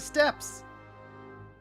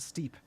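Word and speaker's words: Steppe: Back to the step. I was unaware that we uh had storm blood locations unlocked. I thought that was the steep. It's pronounced step.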